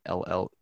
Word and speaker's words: Hale: I was also thinking about another article I read by Tara Hale. I don't know if I'm going to mispronounce her last name. It's Halle.